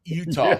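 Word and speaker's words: Eutaw: of Utah Street uh that's e-u-t-a-w right Utah yes yes I'm looking on the damn map for Utah UTA h no no no no it's e-u-t-a-w yeah Utah it's spelled the way it sounds no it's not you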